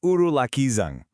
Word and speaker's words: ഉരുളക്കിഴങ്ങ്: That's right, it's urulakkizhang.